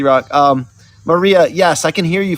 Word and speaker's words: Marija: waiting for our guests Marisha is it Marisha did I pronounce that right it's Maria can you hear me